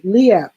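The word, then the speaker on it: LIEAP: about the let me see if i can pronounce it correctly leap program um l-i-e-a-p low-income energy assistance program it's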